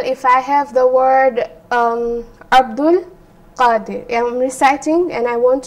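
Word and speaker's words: عبد القادر: The alif will not be pronounced, and the hamzatul wasla will have no effect on the alif when it comes to pronunciation. So I will just simply pronounce it as Abdul Qadir.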